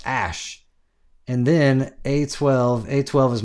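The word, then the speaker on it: Æ: And then the A E is pronounced like is pronounced ash.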